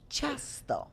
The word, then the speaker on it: ciasto: But this is called ciasto. Ciasto. Ciasto. It's Ciasto. Władek said right.